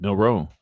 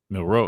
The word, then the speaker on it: Milroe: I I don't know why it's a pet peeve when people pronounce his name like that. Milo. Milroe. I think it's just Milro, man.